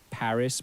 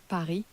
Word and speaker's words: Paris: So we don't say Paris, but we say Paris.